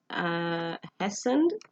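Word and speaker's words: hastened: वो जो छोटी छोटी बेस बनी हुई थी, वो कहता कि मैं उनमें से आई हैसनड, टी साइलेंट है इसमें.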